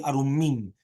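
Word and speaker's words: ערומים: And then also you have the correct pronunciation is actually Arumim, which is going to be with a dagesh in the Mem.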